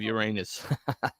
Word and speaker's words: Uranus: It's pronounced Uranus, not Uranus.